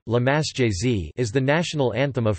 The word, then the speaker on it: La Marseillaise: La Marseillaise, French pronunciation, La Marseillaise, is the national anthem of France.